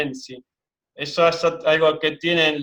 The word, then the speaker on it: ensi: Porque se escribe Patesi, pero se dice Ensi.